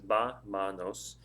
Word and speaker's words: vámonos: Now when you do that, vámonos is ba-manos. It's 3 syllables. The stress of the word is on the first syllable, the vámonos.